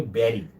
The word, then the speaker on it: buried: white data alongside really be really but the pronunciation will be buried be you are why the pronunciation is bad